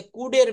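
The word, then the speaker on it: could: Subject plus কুড সি ও ইউ এলডি এখানে কুলড বলবো না। এলটা সাইলেন্ট থাকবে।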